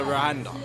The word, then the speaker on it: Rwanda: Rwanda.